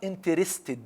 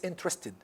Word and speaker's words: interested: For example, interested, not interested. No, it's interested. Interested. Okay.